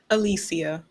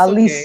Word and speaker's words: Alicia: Is it or Alicia? Alicia. Thank you. Alicia. Oh, I'm sorry. You should have corrected okay. me. No, it's Alicia.